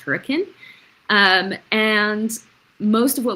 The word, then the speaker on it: Hurricane: Um, we have managed homes in hurricane, which is spelled hurricane, but it it's pronounced hurricane.